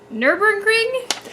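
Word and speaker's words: Nürburgring: The nominees are Elite, Minecraft, again, it was nominated last year, Nurburgring? Am I pronouncing that correctly? You are.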